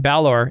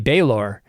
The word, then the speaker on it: Balor: one that has pronunciation apparently I've been mispronouncing Balor it should be bayor all this time look